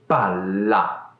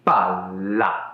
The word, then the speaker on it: palla: Pala e palla. Hai sentito qualcosa di particolare? Pala e palla.